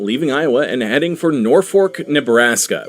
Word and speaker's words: Norfolk: Iowa and heading for Norfork, Nebraska, which is how they pronounce it in Nebraska.